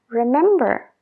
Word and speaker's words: remember: ejemplo muy común es la palabra remember remember remember remember lo que pasa con esa palabra es que cuando estamos hablando muy rápido sí que a veces timos esa B sería I remember